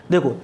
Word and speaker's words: the: यदि vowel sound है उससे पहले THE है तो उसका प्रोनाउंसिएशन होगा THED। फाइन। देखो जैसे ये एग्जांपल है